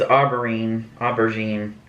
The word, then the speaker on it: aubergine: It says aubergine, that's how you say it.